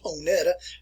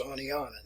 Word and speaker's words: Oneonta: the northern people that were visiting that area pronounced it as onetta uh it's Onana that is the way it's pronounce and from